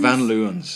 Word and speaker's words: Van Leeuwen: Van Leeuwen's. Van Leeuwen's ice cream.